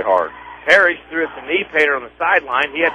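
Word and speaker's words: Niepoort: Kneepater is spelled N-I-E-P-O-O-T-E-R, pronounced Kneepater.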